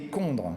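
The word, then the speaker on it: chondres: Donc ce qu'on appelle des condres, ça s'écrit mais on prononce condre.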